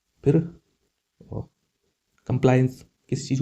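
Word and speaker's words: compliance: फिर कंप्लायंस किसी चीज़ को कंप्लायंस करना। मैं उच्चारण इसलिए बता रहा हूं कि आपको कंफ्यूज ना हो।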